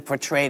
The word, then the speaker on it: portray: And it paints a much different portrait than the way she's been portrayed in the media.